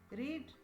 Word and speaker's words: read: रीड रो past simple form मध्य रीड किंतु उच्चारण रेड हबो रीड रेड रेड एठारे प्रेजेंट व्यवहार करा जायछि कोटेशन भितर द टीचर्स रीड अलाउड।